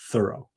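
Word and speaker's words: Thoreau: that is Henry David Thorough. But uh you know they say that he really wanted it he pronounced it thorough.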